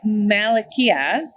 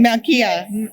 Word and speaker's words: Malkia: So here we are with Natalie at Malakia. Did I say it right? Malkia. Malkia, right? Yes, right.